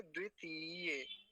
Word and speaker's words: द्वितीय: बो इसको द ती अब इसको ती लंबा खींच थोड़ा सा जो ज्यादातर गलती होती है वो इसी मात्रा में होती है तो क्या बोलेंगे द्वितीय द्वितीय या व जो कक्षा